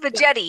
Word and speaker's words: Veggetti: No, it's just veggetti. It's a hard G.